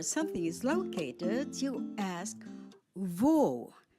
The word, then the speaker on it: wo: is located you ask V spelled w o That's the German word remember in German the letter W is pronounced as v as in the English word Victory let's say it again